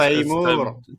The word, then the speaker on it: Tamoor: Tamoor, no, no, it's no, it's Taimur.